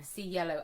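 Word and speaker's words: Cielo: it was just like think of the color C yellow that's what I us say to people C yellow and then you're sort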